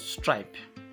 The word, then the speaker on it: strip: So it's going to say for number in recipient numbers, if number does stripe or strip, depends on how you want to pronounce it.